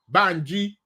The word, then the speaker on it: Banji: Yvette came in first, then Banji. I should pronounce that the real Yoruba way. Banji.